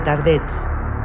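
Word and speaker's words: Tardets: cruzar el gabe de tardet r arrastrada y la t y la s pronunciadas pasar después por el pueblo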